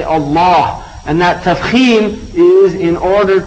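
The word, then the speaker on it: الله: it's an emphatic name you say Allah and you don't say Allah which normally that's the way the Arabs would pronounce a word with the lamb but here they say Allah and that is in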